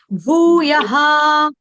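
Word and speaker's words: भूयः: भूया पढ़ रहे हो भूया नहीं भू को दीर्घ करो भू को थोड़ा लंबा करो भूया भू तत पद तत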